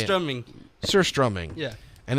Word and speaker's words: surströmming: It's called surströmming, Yeah. right? Did I say it right? How do you say it? Surströmming.